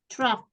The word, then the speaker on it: truck: Ah ya, Truck, coba baca. truck bacanya. Ya. Bacanya kan U itu dibaca A.